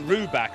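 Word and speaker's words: Rybak: Now, his surname is pronounced Ruback, I'm told, and it's got everything according to Will in Lewisham.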